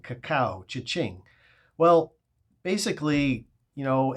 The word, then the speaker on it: cacao: we're talking about not cocoa but caca C aao caca it's pronounced like cha-ching Kaka cha-ching well basically you